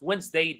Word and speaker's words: Wednesday: Wednesday, the D is silent.